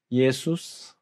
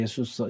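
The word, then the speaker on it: Ἰησοῦς: 예수스, 그죠? 예수님은 신약 시대니까 헬라어 발음이란 말이에요. 예수스.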